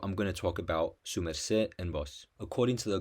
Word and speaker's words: sumercé: bogota in certain environments sumerseh is sometimes written separate su merce but is always pronounced together and the d is lost in speech like in uste this is because the